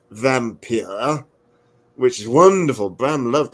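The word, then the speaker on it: Wampyr: the undead that's the title it would be pronounced vampir which is wonderful Bram loved language but yeah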